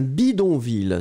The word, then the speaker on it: bidonville: So, c'est un bidonville. So once again, probably the pronunciation will be slightly different here. Hein? Bidonville, because I go for the nasal here.